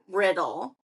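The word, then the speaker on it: R!ddle: is my favorite perfume it's called riddle and it's but riddle okay and it's not spelled it's spelled r exclamation d d l e this is really of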